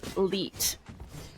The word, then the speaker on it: 1337: board and against 1337 which i have been told to pronounce as leet and it would make sense you know we have a one three three and a seven yup um it's you